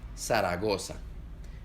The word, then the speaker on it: Zaragoza: La Z en Latinoamérica suena como S, Zaragoza, pero en España suena como Z, Zaragoza.